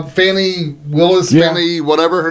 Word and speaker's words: Fannie: fashion he's like well apparently she pronounced it different than Fanny yeah F fny or something he goes no no no no no no people it's Fanny it's spelled like Fanny it's Fanny it's another word for ass well in